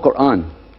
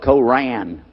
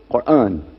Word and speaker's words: Quran: It's called Quran. Now in Texas, a lot of people mispronounce it. They call it Koran. But it's Quran.